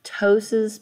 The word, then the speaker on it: ptosis: word ptosis it's you the p is silent so it's ptosis p-t-o-s-i-s that's the word for